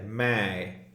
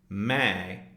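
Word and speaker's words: मैं: the end of it it's kind of nasalized so if you hold your nose and say May that's kind of the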